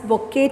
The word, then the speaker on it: bouquet: the next is a bouquet of floss so b-o-u-q-u-e-t this is pronounced as bokeh children okay t is volunteer bouquet of flowers